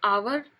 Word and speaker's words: hour: लेकिन हम आवर HOUR से पहले भी एन का यूज़ करते हैं, क्योंकि वहाँ पे जो एच है वो साइलेंट रहता है, तो वहाँ पर भी